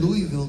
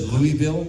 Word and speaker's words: Louisville: I was in Louisville, Kentucky last week, and before I was on stage, I had to do a little video. And you said Louisville?